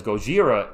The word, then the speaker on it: Gojira: Because Gojira is actually how it's pronounced in Japan.